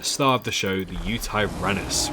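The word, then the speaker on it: Yutyrannus: big boy the star of the show the Utah runnis right here how do you pronounce it you tyrannus correct okay um yeah the skin pattern's really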